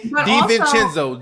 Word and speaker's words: DiVincenzo: You've said this man name wrong for like 4 years straight. Dante DiVincenzo.